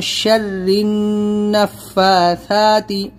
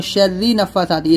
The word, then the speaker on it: شَرِّ النَّفَّاثَاتِ: گے، وَمِن شَرِّ النَّفَّاثَاتِ، یہاں پر اکثر لوگ کیا کرتے ہیں وَمِن شَرِّ نَفَّاثَاتِ، اس کو را نون زیر زن یہاں پر ہم ہجے کریں گے، تو را نون زیر زن، تشدید ہے نون کے اوپر، اور نون کے اوپر تشدید ہے تو غنہ بھی کریں گے، تو وَمِن شَرِّ النَّفَّاثَاتِ،